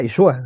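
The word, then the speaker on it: ישוע: Y curiosamente ese nombre que le pone Josué tiene la misma raíz hebrea que Jesús, que se pronuncia Yeshua, ¿no? Entonces, Yeshua deriva de ahí el nombre Josué y el nombre Jesús, que significa Dios salva, esa raíz.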